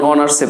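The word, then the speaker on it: honours: এই আওয়ার শব্দটি অনেকে ভুল করে হাওয়ার বলেন, যেমন অনার্সে পড়ে অনেকে অনার্স, এটাকে উচ্চারণ অনেকে আমরা ভুল করে হনার্স বলে ফেলি।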